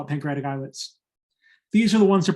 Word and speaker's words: islets: we call eyelets pancreatic eyelids eyelid the s is silent it's pronounced like an island an eyelet is a